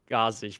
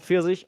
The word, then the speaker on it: Pfirsich: for this Discord server, I always said Gazich because his name is written in G4 and then the Sich pronunciation. And I always thought, why is it called Gazich? And it's called Pfirsich.